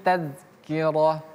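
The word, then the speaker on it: تذكرة: Inna hadhi tazkirah. Ingat ini dalal bukan taz tapi tazkirah. Ini tak marbutah yang tadi sudah kita bahas ya.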